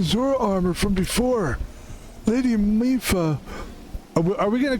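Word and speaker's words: Mipha: That's pronounced Impa. So you're playing Zelda, huh? Impa? Which game in the series are you... Just to clarify, Mifa is pronounced Mifa.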